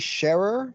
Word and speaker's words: Sherer: so my name's sharer pronounced like someone who shares and uh I am